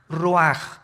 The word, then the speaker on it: ruach: El ruaj que se escribe r u a c h. Ruach en el hebreo y se pronuncia igual roj.